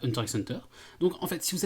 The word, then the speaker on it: Hunter x Hunter: Juste avant que je te laisse continuer, je précise qu'on sait bien que ça se prononce Hanta Hanta. Mais personne dit ça. Mais en fait, on en a rien à foutre, on a toujours prononcé ça Hunter x Hunter.